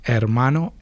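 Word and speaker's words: hermano: The h is silent in Spanish. Mano mana.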